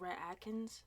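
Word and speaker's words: Rhett Akins: a country singer now and his dad is rhett atkins that's how you say his name um and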